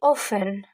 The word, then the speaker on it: often: toujours on a aussi often malgré il y a le T ici ne prononce jamais ok of of often ça veut dire souvent souvent often répéter always often répète always of always often vas-y répète always always toujours often often souvent of ne prononce jamais le T d'accord on a trè